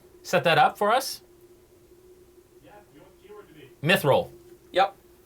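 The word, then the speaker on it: Mythroll: know how it's spelled m y t h r o l l just like it sounds as opposed to how it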